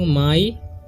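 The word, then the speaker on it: my: हम माई ठीक है इसे मी नहीं पढ़ना है इसे पढ़ते हैं हम लोग माई और इसे पढ़ते हैं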